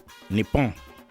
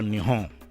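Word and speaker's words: 日本: logographic script as follows, which is pronounced Nippon or Nihon.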